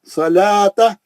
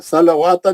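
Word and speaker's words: الصلوة: खड़ा है अकी सलाता सलाता वाऊ नहीं पढ़ेंगे फिर लाम के बाद का वाऊ भी साकिन है सलवाता नहीं है वो सलाता है वाऊ साइलेंट है नहीं पढ़ेंगे अगर सलवाता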